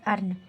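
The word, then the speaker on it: earn: इ के बाद ए आर आया आया है तो इ का उच्चारण नहीं होता है। तो यहां पर हम जो है इ का उच्चारण नहीं करेंगे। ये हमारा इ साइलेंट में रहेगा।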